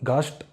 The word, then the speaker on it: Gast: If it appears in the beginning and in the end, you should pronounce it with the sh in the beginning. Okay. So st. So for example, gast.